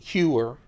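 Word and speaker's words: Heuer: I pronounce it Hewer. Some people call it something else, but I really like it.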